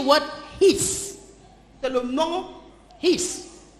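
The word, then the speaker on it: εἷς: c'est le nom His. No, his. It is spelled H-E-I-S.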